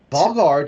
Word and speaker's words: Vhagar: Uh, So Vagar does not have the E. So I in it. think that if it had been spelled with an AE, I would have said Vhagar. Vagar. But Uh-huh. since it's just an A, I want to say Vagar. So I'm going to continue saying Vagar.